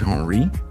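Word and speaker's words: Henri: Henry pronounced Henry is the French name derived from the Germanic himri which means ruler of the house.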